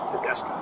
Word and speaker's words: Tedesco: How do you Is that how you pronounce pronounce that? Tedesco. Tedesco?